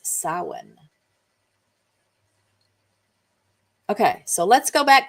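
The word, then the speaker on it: Samhain: It's sin, which is actually pron uh spelled s a m h a i n, but I have a little pronunciation note here that it's sin.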